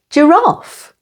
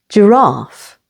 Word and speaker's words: giraffe: s able humble and giraffe here the stress is on the second syllable giraffe rhymes with laugh a fun phrase you